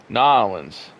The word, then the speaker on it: New Orleans: just say, it's like everyone has their own pronunciation for their hometown or their whatever, but New Orleans. I have a friend that is Cajun, and that's exactly how she says it.